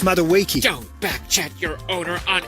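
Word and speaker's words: Madueke: It's pronounced Maduiki.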